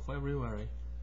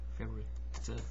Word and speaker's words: February: It's first of February. Four syllable, February. Tenth of February. February. Two syllable.